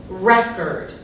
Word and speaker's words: record: So in this example, if we're talking about a Frank Sinatra record, the pronunciation looks like this, record.